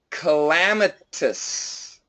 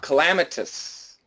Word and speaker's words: calamitous: getting getting getting perfect calamitous hellam enters its it's like a lamb to calamitous actually we can even go shwat calamitous calamitous great one more